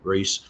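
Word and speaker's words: Rhys: His name is spelled R-H-Y-S. So Comrade Reese.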